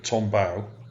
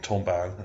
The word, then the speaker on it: Tombaugh: just type in Clyde Tombaugh, it's spelled with a B-A-U-G-H on the end. I think that's how you pronounce it.